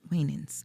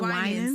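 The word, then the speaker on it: Winans: Wanins, I'm saying the last name wrong. Uh, is it Wens? Yes, Marvin Wens.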